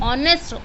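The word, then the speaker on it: honest: ऑनेस्ट।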